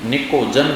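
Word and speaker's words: pnictogen: जिसे निकोजन कहते हैं पी साइलेंट रहता है इसमें जिसे निकोजन कहते हैं बच्चों ये क्या लिखा हुआ है क्या लिखा हुआ है हां नीट नहीं है नाइट है नाइट में जी और एच दोनों साइलेंट होते है उसी टाइप में इसमें कौन साइलेंट है प साइलेंट है निकोजन जैसे तुम लिखते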